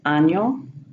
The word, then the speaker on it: año: Moving down to the Ñ, it's pronounced like an N and Y in Kenyan, such as año, cariño.